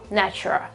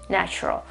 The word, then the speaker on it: natural: is sh, so ch, nach, schwa or schwa, natural, natural. We don't pronounce the L at the end, okay?